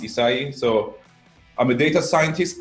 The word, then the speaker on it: Issaei: It's pronounced Issaei.